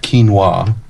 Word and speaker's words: quinoa: It's pronounced quinoa.